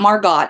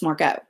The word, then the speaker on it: Margot: And it's not Margot, it's Margot.